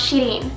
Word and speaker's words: Shirin: My real name is actually pronounced Shirin, which is from Iran, so I'm half Persian and half Filipino.